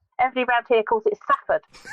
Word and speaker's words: Salford: Everybody round here calls it Safford. As if there was no L in there at all.